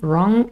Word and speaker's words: wrong: bring now right run wrong they all start with a r sound although wrong has a silent w at first but in bring it